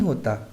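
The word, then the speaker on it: who: हु से शुरू होने वाले वर्ड्स में डब्ल्यू का उच्चारण नहीं होता, जैसे हु कौन, यहाँ पर हम डब्ल्यू का उच्चारण नहीं कर रहे।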